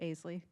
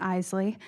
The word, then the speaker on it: Isley: So I'll pass it off to you, Aisley. Thank you so much for having me, first of all. And I know that it's deceiving, but my name's actually pronounced Isley. My go-to is Isley.